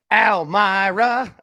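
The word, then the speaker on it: Almere: Well, you got two pronunciations for the home team. Almy Myra or Almirra? Almy Myra.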